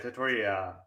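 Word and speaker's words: Tetairoa: Tatoria McMillan. McMillan. Oh, Thank you. And that's how we're officially going to pronounce his name.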